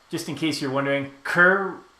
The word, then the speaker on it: Kerr: And just in case you're wondering, Kerr rhymes with fur.